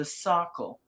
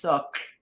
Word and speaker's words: socle: You can see from the and that's referred to as the socle, which of course for a French professor is like chalk, fingernails on a blackboard, because in French it's socle, which basically means the base of a statue.